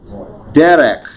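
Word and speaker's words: דֶּרֶךְ: Derek. Yeah. Notice the accent on the first syllable.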